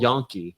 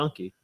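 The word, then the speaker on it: gnocchi: Like it's Italian food where it's G N O. Yonke. Yeah. Is that really how you say it? Yeah. Yonke.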